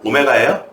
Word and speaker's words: 오메가: 무조건 나와 무조건 나와 w라고 읽지 마요 오메가예요 자 x 세 개